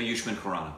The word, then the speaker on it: Ayushmann Khurrana: So yushman kuran.